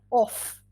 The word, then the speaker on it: of: sound as an off but the preposition of even though it's spelled with an f it's pronounced with a v this is um thank